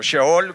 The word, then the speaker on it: Seol: respecto y de hecho la palabra Seol eh O shol como le dicen también que así se en español así se escribe Pues de la traducción